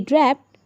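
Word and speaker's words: draped: शी ड्रैप्ड, यहाँ पर टी का साउंड आएगा हल्का। जब आप प्रोनाउंस करेंगे तो डी की जगह टी की साउंड आएगी। शी ड्रैप्ड a blanket over the chair.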